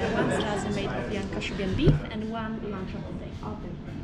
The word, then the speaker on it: Kashubian: Kashubian region, yes.